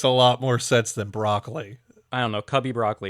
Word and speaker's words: Broccoli: great by the way I always thought it was broccoli I heard someone pronounce it broli and I'm like the